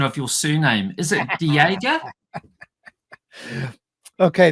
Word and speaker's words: de Jager: Is it Jager? Okay, the original correct pronunciation is Jager. Okay. When we came to Canada, we modified it a bit and made it more French. Jager.